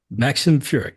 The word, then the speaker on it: Maxim Furek: Maxim Furek, yes.